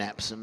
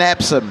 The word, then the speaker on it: Epsom: I want to make sure I'm pronouncing that right. I was born in Epsom in Surrey, which is south of London.